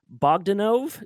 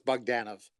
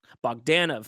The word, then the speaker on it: Bogdanov: writer and artist John boganov did I pronounce that correctly the accent's on them on the a so it's bogdanov bogdanov there we go it's